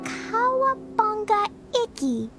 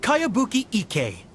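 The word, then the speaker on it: Kayabuki Ikkei: By Kawabunga Icky. Yoimiya, this is a really strange name. Who's this Kawabunga? It's pronounced Kayabuki Ike.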